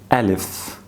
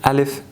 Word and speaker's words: ا: this group alif now Elvis pronouns exactly the same way you pronounce a in English so a sound add in the word cat so alif is a so these are the